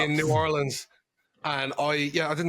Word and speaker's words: New Orleans: so we traveled to New Orleans or should New Orleans said it wrong New Orleans and what a drive